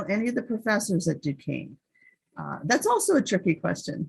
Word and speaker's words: Duquesne: Duquesne is a French word, and it actually has